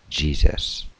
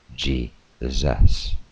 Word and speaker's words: Jesus: At some point, the U in Jesus, came to pronounce as in cut, so the way we say Jesus.